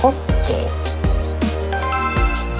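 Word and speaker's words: 杖球: 正解はホッケー、上級と読みます。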